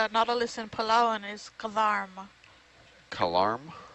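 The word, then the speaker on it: kedarm: in palan is garm Karm Karm so k e d a r m card the K is kind of like a g sound a little bit but it's still K Karm what depth range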